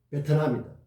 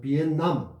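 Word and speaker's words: Việt Nam: 그래서 베트남이다. 그러니까 비엣 쪽이 많은 나라 이런 뜻이겠죠. 그러니까 베트남보다는 비엔남, 비에 쪽이 많은 비엔남, 남은 남쪽 이런 뜻이죠. 비엔남이 그 원래 발음에 더 가깝다.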